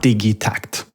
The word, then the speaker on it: Digitakt: for this thing is digy tact it's a Swedish invention it's a Swedish product made by a Swedish company and it's a combination of two Swedish words digital and tact that becomes digit TCT